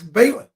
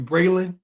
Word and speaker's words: Balin: You pronounce it right. Balin. I don't see it anywhere else, bro. It's Balin. What they call you, Braylon, right?